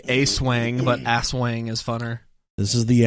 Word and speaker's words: Aswang: the pronunciation here but I believe it's assang assang it has to be ass Wang it's spelled as w n g and this is from